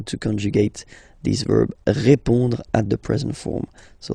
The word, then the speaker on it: répond: So, final D is not pronounced. You only have this on nasal sound at the end. Répond.